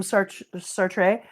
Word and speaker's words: Sartre: Oh, drop stealing opinions from Sartre. I say Sartre, it's Sart, but when you say Sartre, it rhymes with cafe, and then it goes with the joke I have about Sartre.